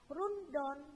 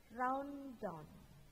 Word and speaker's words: rundown: Ingat bacanya bukan rundown tetapi rounddown, ya, rounddown. Sambil manyun-manyun gitu ya, rounddown.